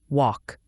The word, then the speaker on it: walk: Walk, the L is silent.